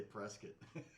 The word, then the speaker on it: Prescott: It's spelled like Prescott, but they say Prescott.